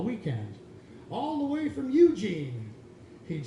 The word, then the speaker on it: Eugene: "All the way from Eugene," he'd say, emphasizing the first syllable and not the second, like he always did.